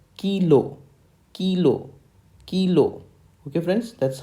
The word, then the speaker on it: Kilo: a letter K and in phonetics its spelling is k e y okay you have to emphasize on key and then l o h is the remaining part of the phonetic spelling so the letter K is pronounced or spoken in phonetics as kilo kilo kilo okay friends